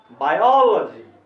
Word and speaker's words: biology: आवाज को ऊंचा करना है, रुकना भी है, बायोलॉजी, बायोलॉजी, ऐसे पढ़ना चाहिए, बायोलॉजी, ऐसे नहीं पढ़ना चाहिए बायोलॉजी, ये गलत उच्चारण है, ठीक है, बायोलॉजी।